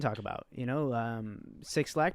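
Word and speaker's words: 6lack: about you know um six lakh pronounced black dropped an ep uh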